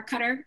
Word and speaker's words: Qatar: lebanon libya morocco oman qatar uh our cutter is what i've heard is the proper way to say that actually um saudi arabia syria